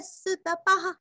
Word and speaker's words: सुतपाः: सुतपा, सुरस्व और यहाँ पे पा पूरा पढ़ के विसर्ग का उच्चारण हल्का सा प। सुतपा, सुतपा।